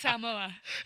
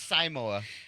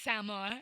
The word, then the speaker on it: Samoa: he make you say that new Samoa it's pronounced Samoa Samoa yeah yeah I think it's saoa no it's Samoa and um first saw time he saw a